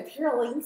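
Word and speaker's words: Pirouline: And then we've got, okay, I'm going to say this name wrong. I think it's Pyroline. Okay, I'm getting the nod that I'm saying that good, so that I'm saying it correctly. So Pyroline sticks, because if you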